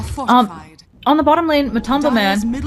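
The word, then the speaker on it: MATUMBAMAN: on the bottom lane, Matumba Man, I just keep saying his name because I definitely said it wrong there, earlier. A little embarrassing. Matumba Man just, yeah, I said like Matumba Baton or something.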